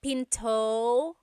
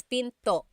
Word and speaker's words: pinto: Don't forget to stop the sound at the end. That's called a glottle stop. Pinto. Pinto. It's not Pinto, it's Pinto.